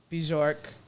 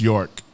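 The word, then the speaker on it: Björk: 45, Homogenic, Bjork. I never really listened to Bjork like that, honestly. It's just York. Oh, it's not. Oh, the B is silent.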